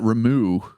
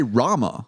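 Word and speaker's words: Ramuh: Oh, I always pronounced that Ramu. Uh I I you always said it Ramu until voice acting came along. And they say Rama and I first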